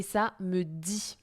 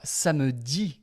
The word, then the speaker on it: ça me dit: Alors, ça me dit quelque chose. Alors, ça me dit, évidemment, ce n'est pas le jour de la semaine, hein, c'est la même prononciation.